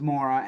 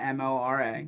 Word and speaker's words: Mora: And Andrew, if you want to follow him online, his last name's Mora, Mora.